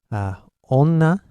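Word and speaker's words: 女: If I were to pronounce onna, this means female. Ondo, this means temperature. So in these cases, these N are pronounced as N.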